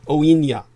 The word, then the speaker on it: UAINE: To quoteist Matawin Monroe, co-leader of the United American Indians of New England, OINA, is how the acronym UAINE is pronounced.